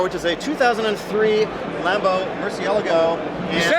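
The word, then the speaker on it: Murciélago: built this car which is a 2003 Lambo Murcielago right you said it right I said it right yeah not for the internet though Lago yeah yeah well it's Murcielago order whatever tell me about this car this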